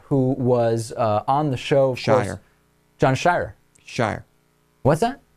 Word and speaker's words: Sheirer: You're saying it almost as if it was S-H-E-Y-E-R, and I believe I'm pronouncing it more the way it's spelled, which is S-H-E-I-R-E-R.